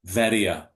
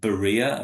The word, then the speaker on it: Veria: fact, right, right, to Veria. In the English Bible, it's often called Berea, I think, because right, the b is like in yeah, Greek, that's v, in fact, in pronunciation.